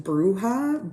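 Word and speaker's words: bruja: their tattoos then they I've only heard this pronounced bruha but in the show they say Braha I believe um so there are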